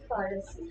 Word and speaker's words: Farsi: In Delhi, we have a variety called Farsi, which is pronounced Farasi.